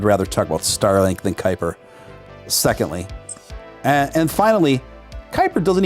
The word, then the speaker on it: Kuiper: know just something about the word kuiper it rhymes with hyper i just don't like